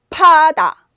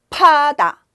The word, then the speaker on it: 파다: 파다 움직이죠. 파다 이렇게 움직여요. 바다 안 움직인단 말이죠.